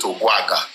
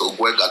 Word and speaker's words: Ogwega: They mispronounce it. They call it Ogwaga in Ondo. I'm telling you, I've met so many of your awos in that place. So they'll call it Ogwaga, but it's Ogwega.